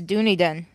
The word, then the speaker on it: Dunedin: the phonetics and it's Dunedin. Dunedin, okay. How do you pronounce it, really? I'm looking at it. The phonetic pronunciation is D-U-N, 2 long E's, D-I-N.